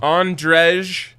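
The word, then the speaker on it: Ondřej: now oh right now andrej or andre depending on how you pronounce it palat if you're a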